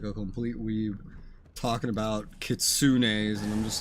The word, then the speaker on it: kitsune: speak on your behalf is that Kitsune actually I've heard that word that's how I know it's pronounced like that Kitsune do this for free